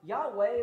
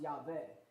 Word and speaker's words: Yahweh: there Yahweh or yah Yahweh is the way we're pronounce it in English because W makes more sense saying W in English but really it's pronounced yve is really the way